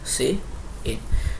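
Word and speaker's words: cin: display हो ठीक है ध्यान रखना सी प्स प्स के अंदर प्रिंट नहीं यूज होता क्या यूज होता है सी आउट ठीक है और इसीलिए आपको मैंने यह प्रोनंसिएशन भी नीचे दिया है क्योंकि स्टार्टिंग में कभी कभी कंफ्यूजन हो जाती है वेल मैंने दिया नहीं है क्या एक सेकंड गु हा देखो ये रहा जैसे कि य हमने लिखा सी आउट और य हमने लिखा सी इन वैसे आप लोग इसको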